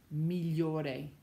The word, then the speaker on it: migliore: The GLI letter combination, when you see that in a word, the G is not pronounced. Just like in the GN combo, it sounds like a nya. You don't pronounce the G, g, g. Same thing. When you see GLI, you do not pronounce the G. It sounds like li, li, as in million, voglio, degli, migliore, meglio, gli.